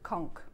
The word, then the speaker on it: conch: say it is conch conk yeah like conquer but conch okay um